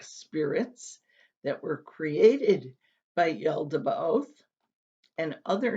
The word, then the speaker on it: Yaldabaoth: to vary depending on the translator but it's pronounced yeldaba oath number seven are the archons these are demonic spirits that were created by yaldabaoth and other names for them are powers or